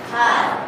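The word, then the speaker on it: half: ডাক এল বলা হয় যেটা উচ্চারণ আছে না সাইলেন্ট এলফ বলো খাফ হাফ হাফ হাফ life life knife দেখো এন এর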